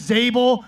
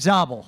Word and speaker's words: Zabel: Zable. Remember, we're dating ourselves now. Right now, Eric Zabel, Zable, what is it? You said it right the second time. Eric Zabel, there we go.